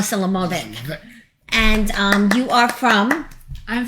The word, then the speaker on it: Selimovich: Did I say it right? Selimovich. Oh, Selimovich.